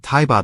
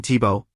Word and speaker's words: Thibault: name is spelled the same way, and she pronounces it Thibaud like in the German way. I always thought it was that way. You guys set me straight. That's fine, Thibault.